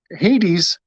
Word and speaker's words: Hades: Hades, the H is silent.